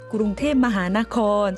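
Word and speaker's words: กรุงเทพมหานคร: 사실 방콕은 영어식 발음이고요. 태국의 진짜 수도 이름은 구룽테 마하나콘, 이 외에도 쭉 68자나 되는 가장 긴 이름을 가진 수도입니다.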